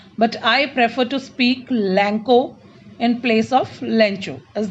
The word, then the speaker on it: Lencho: You can pronounce it Lencho or Lenko, but I prefer to speak Lanko in place of Lencho.